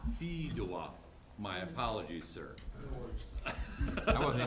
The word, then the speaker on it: Fedewa: into one, that one individual, I can't even pronounce his last name. Federal or whatever. F-E-D-W-A. Yeah, Fedewa. Biedema. Fedewa.